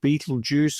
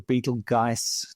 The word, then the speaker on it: Betelgeuse: Uh we are also going to discuss the demise of Beetlejuice or Beetlegeist depending on how you like to pronounce it.